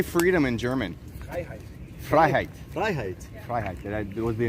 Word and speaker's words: Freiheit: Freiheit.